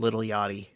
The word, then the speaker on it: Lil Yachty: I love that you pronounce the C and the H in Little Yachty. But I'm no better because now you've embarrassed me. I'm no better because I said little, like a white boy.